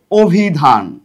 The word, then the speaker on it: অভিধান: হবে তারপরে আদ্য অর্থাৎ প্রথমে যে অটা থাকবে এই ওটা হবে অটা কি হবে ও এর মত হয়ে যাবে অর্থাৎ এখানে হবে অভিধান অভিধান লাস্টে একটা হস চিহ্ন বা হসন্ত বলা হয়।